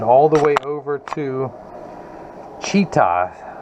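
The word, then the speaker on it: Chita: the way over to cheetah spelled like cheetah but with an aah it is 200 miles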